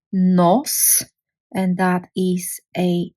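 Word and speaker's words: нос: a word, for example, n, o, no, which no on its own означава but I won't do it, but something else. No, when I add s, and now I have one syllable word, which is nos, and that is a nose.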